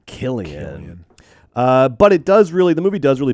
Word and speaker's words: Cillian: Their name Killian, hard C. And the hard C is so much cooler than the soft C. Killian.